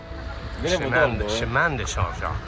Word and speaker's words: Chemin de Saint-Jacques: Chemin de Saint-Jacques, that's how they pronounce it.